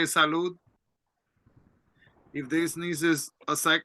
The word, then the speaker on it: salud: Health like to have good health you say salud salute let me write it here so you